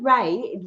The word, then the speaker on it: Ra: Now, Morana Ray, Ray is spelled R A.